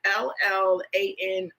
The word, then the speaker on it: Llano: I believe it's pronounced Llano. It's Llano, and it's just a nice sweet red blend.